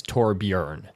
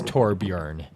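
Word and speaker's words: Torbjörn: with actual swedish people the proper pronunciation of it is torbjorn the o with the umlauts is kind of a e sound kind of a sound so it's torbjorn what's what's your favorite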